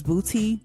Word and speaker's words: BPOTY: Okay, my next track that stood out to me was Booty. I think I'm saying it right, but it's spelled BPOTY, featuring Too Short, and it stands for Biggest Pimp of the Year.